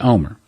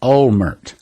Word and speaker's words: Olmert: tongue were pronounced that Olmert but that's not the way they pronounce it in Israel and I've heard several